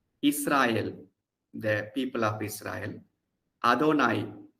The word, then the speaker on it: Adonai: Adonai, it is written as Yahweh, but is pronounced as Adonai because the Jews don't take the name of God in vain.